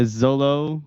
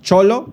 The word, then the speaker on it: Xolo: looks like a a zolo. Zolo. Uh what's it called? Zol Zolo. It's Xolo. That one. Yeah. Squink. Yeah. Is that uh here? It's pronounced cholo like ch like chol squinkle or xolo squinkle.